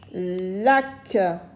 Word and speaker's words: lac: a aucune voyelle après la lettre C se lit que, comme avec A, avec O, avec U, avec R et avec L.